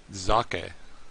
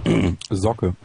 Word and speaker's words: Zocke: It's Zake, I think. Is that right? Yeah, that's not happening. I'm sorry. Hold on, pronounce it correctly for us. Zocke.